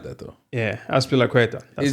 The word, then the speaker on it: Azpilicueta: The first one, Zapilaqueta, is that how you say it?